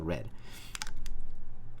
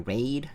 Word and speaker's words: Raed: a so like red it's still red it's just written r a e d like raid but is red yeah 130 again i was pronouncing your raid yeah i mean you